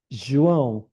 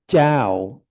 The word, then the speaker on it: João: But when you say Jiao or Zhao, it really doesn't sound good at all.